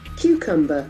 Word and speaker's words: cucumber: The accent falls on the first syllable, cucumber. Cucumber. We have two CUs happening simultaneously, but the pronunciation is different for the two CUs. Cucumber. One is Q, the other one is cucumber.